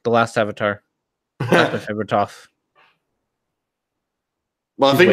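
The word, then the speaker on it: Thoth: That's my favorite Toph. Well, I think it's pronounced like Toph or something. Tough. It's pronounced tough, like tough to break.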